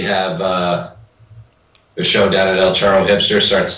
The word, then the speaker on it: El Charro: So El Charro, which is, I'll say it right, El Charro.